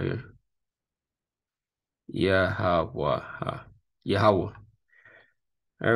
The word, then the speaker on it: Yahawah: Yahawah.